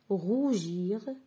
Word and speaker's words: rougir: 2e série glace gris rougir or je répète glace gris rougir are donc ici glace et gris et augre on entend le sonang gu mais rougir on entend le sonang je donc je vais barrer